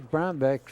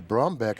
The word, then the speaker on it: Brumback: I keep getting corrected here with the pronunciation of his name. Well, his name is Brumback. I've been calling him Brumback. Do you have a back or a beck? Do you rub your beck or your back?